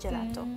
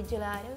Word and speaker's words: gelato: yeah gelato okay gelato why do you say do instead of two i think it just sounds more natural in english for lack of a better way of saying this i feel like